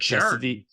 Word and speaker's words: Chestatee: But Chestatee, yes, that's how you say it.